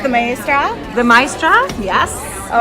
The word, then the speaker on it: Maestra: So it's the Maestra.